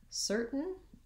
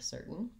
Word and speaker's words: certain: help with this pattern a similar word to curtain is the word certain and spelled differently but it has just the s sound instead of the k sound curtain and certain once i can say